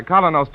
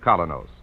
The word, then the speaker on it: Kolynos: Keene is broadcast to you by Colos toothpaste.